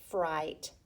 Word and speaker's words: fright: we have I gh the gh is silent and you have fright or I so we